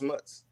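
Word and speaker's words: isthmus: called of america is is that how you pronounce it it's mutts the s t h m u s yeah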